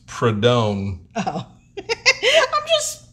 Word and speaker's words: Prudhomme: tom the mongoose mcewen did you say prudhon prudom it's prodone oh i'm just pronouncing